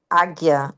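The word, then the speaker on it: Ajna: O asna chakra pronuncia-se águia.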